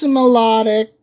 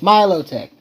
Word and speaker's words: Milotic: So, perhaps Melodic. Now you got me saying the wrong pronunciation. It's Milotic.